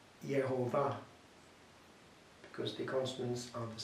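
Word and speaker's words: Jehovah: us in common pars the pronunciation which is actually a with the letters the consonants of one and the bows of the other becoming yehovah because the consonants are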